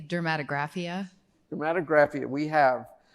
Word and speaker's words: dermatographia: So, what's the exact pronunciation? I say dermatographia.